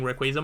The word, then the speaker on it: Rayquaza: know I feel like I've always said Rayquaza but over the years I think I've started saying Rayquaza more because I think that's its like official pronunciation um normal nah